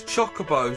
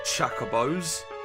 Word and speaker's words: chocobos: bows and the finals the pronunciation is all wrong it's chocobos not Chaka bows hahaha although he's seen